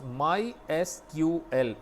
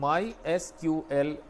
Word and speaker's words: MySQL: इसको हम pronounce MySQL जैसा कि मैं कर रहा हूँ MySQL करते हैं।